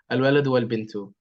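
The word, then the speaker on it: الولد والبنت: Consequently, it disappears when it follows another word, and in pronunciation, the lam follows immediately after the final vowel of the preceding word, e.g., al-waladu wal-bint, Bintu. al-waladu wal-bintu, the boy and the girl.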